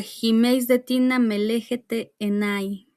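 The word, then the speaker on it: ὑμεῖς δὲ τίνα με λέγετε εἶναι: Estas palabras pronunciadas por Jesús, más o menos en griego, se pronuncia Jimeis de Tina Melejete Enai.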